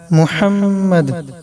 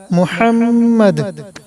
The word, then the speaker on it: মুহাম্মাদ: ইন্নাকা হামিদুম মাজিদ, আল্লাহুম্মা বারিক আলা, আল্লাহুম্মা বারিক আলা, আল্লাহুম্মা আল্লাহুম্মা বারিক আলা, বারিক আলা মুহাম্মাদ মুহাম্মাদ। এটা বড় হা, এখানে বড় হার উচ্চারণ করবেন।